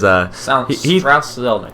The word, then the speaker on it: Strauss Zelnick: Yeah, because according to the Take-Two CEO, Strauss Zelnick, I think I'm pronouncing that right, is Strauss Zelnick.